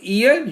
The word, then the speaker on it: ihr: Second person ईयर, मतलब एक से ज्यादा लोग हैं तो ईयर।